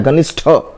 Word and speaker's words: घनिष्ठ: शुद्ध हमारा ठ है, घनिष्ठ बोलते हैं, घनिष्ठ वर्ड बोलिए।